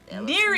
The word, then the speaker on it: N33RI: Neary. Neary, But it's spelled actually with 3s. N33RI.